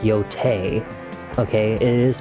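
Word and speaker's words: Yōtei: that you guys are saying out there it's pronounced Yote. Okay, it is pronounced Yote. They they actually say it in the game, Yote, but I think it just sounds dumb. So, I call it Yai.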